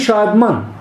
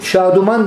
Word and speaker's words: şadman: İkincisi şadman. Neşeli, mutlu, sevinçli. Eskiden kullanılırdı, hatta isim olarak kullanılırdı değil mi? Şaduman diye isim koyuyorlar ya, o bu şadmanın yanlış telaffuzu. Çünkü vav olmaz orada. Vav olursa ayrı olur.